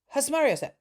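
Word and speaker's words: Susmaryosep: In short, Hasmariosep. And they said you have to say it very fast and you have to pronounce the yo is the big one.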